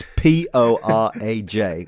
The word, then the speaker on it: Poraj: Are we saying porridge? I'm going with porridge. It's Poraj, which I guess is sort of Yugoslavian type area. I don't know. He's of Polish parentage. He's Polish, but right? He has a double-barreled. His full name is even more complex than that. Well, I'm certain it's not pronounced porridge.